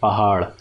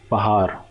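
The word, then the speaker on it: پہاڑ: will contain this alphabet, like pahad, pahad. So I think you would be pronouncing it like pahar, pahar.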